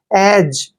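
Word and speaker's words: edge: बैज में और यहां भी बता रहा हूं जी से पहले जब भी डी आता है तो डी का प्रोनंसिएशन हम नहीं करते हैं यहां पर ई का उचा ए करेंगे और डी का उच्चारण हमने नहीं करना है और जी ई को ज पढ़ते हैं एज एज मींस क्या होता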